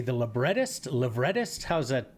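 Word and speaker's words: librettist: The labretist. Lretist. How's that pronounced? The the writer. Libertist.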